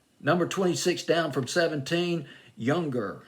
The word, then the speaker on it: Youngr: 26 down from 17 younger i believe that's how you pronounce the name y o y o u n g r no e in it with boy from